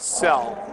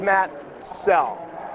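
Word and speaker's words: Soell: Well, Makoto, it's spelled S O E L L. And it's pronounced cell.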